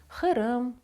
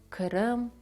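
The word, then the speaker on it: Qırım: Хирим, хабах, хоранта. Головне не вимовляти як «к». Це не «ке» і тим більше не «к'ю». Кирим, кум, кабак казати не можна. Так неправильно. Правильно – хирим.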